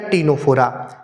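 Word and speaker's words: Ctenophora: हो जाएंगे पोरिफेरा सिंटा टीनो फोरा ठीक है टीनो फोरा यानी कि नाम टी से स्टार्ट लेकि आगे क्या आता है सी इसमें सी क्या है साइलेंट है पोरिफेरा सीलेंट्रेटा टीनो फोरा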